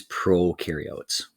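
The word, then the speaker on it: prokaryote: picture we call these Pro carots okay and a good way to remember that based on on the Ed puzzle they said Pro rhymes with no so no nucleus in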